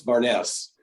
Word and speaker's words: Barnes: It is Barnes. I figured, but I thought I'd ask anyhow. Yeah. No. Fair enough. It happens. It happens a lot. Yeah. People. Yeah. Just the E is silent.